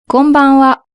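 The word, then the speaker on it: こんばんは: Il faut bien marquer la deuxième lettre, le n, comme dans konnichiwa.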